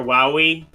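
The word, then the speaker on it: Wily: the platform Dr W actually it's not pronounced Dr Wy it's Dr woi um get it right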